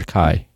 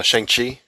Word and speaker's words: Shang-Chi: Is that how you say it? Chai or Kai? No, Shang-Chi.